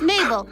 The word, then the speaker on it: Mabel: My name is Mabel. It rhymes with table.